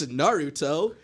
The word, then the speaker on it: Naruto: It's Naruto. Stop pronouncing it wrong.